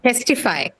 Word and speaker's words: testify: hence ticket it's uh next one testify a spirit aspirated yes same thing similar to ticket again it has got both the stress as well as the appearance in the first position of the thread syllabus so testify again aspirated photography aspirated right that